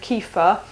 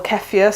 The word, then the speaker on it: kefir: Most people probably have heard of Kefir, or Kefir, some people pronounce it differently, and this is a grain.